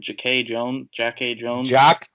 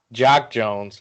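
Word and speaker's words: Jacque Jones: I don't know if I said it saying this right, but Jack A. Jones. Jock Jones. Oh, Jack, that's how you say it.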